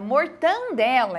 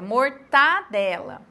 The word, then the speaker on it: mortadela: tem dois 10 mesmo mortadela que é mortandela é mortadela privilégio que é trem